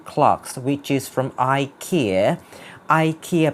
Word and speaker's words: IKEA: And well, I really love these two clocks which is from IKEA IKEA เป็นการออกเสียงแบบอเมริกันถ้าเกิดแบบ British จะออกเสียงว่า IKEA หรือว่าแบบชาวนอร์เวย์ไม่ใช่สวีเดนเนาะสวีเดนก็ออกเสียงว่า IKEA อะไรเงี้ยซึ่ง because I first got to know this